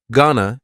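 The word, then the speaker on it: gonna: contraction just like Wana Ghana is generally pronounced with the schah GNA Ghana you going to ask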